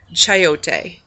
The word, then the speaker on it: chayote: So this little guy right here is called a chayote, and that's spelled Chayote.